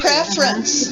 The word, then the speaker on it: preference: Ooh, listen to how I pronounced it. Listen, that was a trick question. Okay, 2. Preference. 2. Remember we talked last time about disappearing syllables, right?